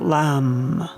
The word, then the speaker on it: Lam: The low-toned Om is the exercise for the chakra attunement, and the one-syllable Sanskrit mantra is Lam, with the L, Lam.